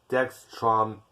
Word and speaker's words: dextromethorphan: I think it's pronounced dextromethorphan. Well, it's either way.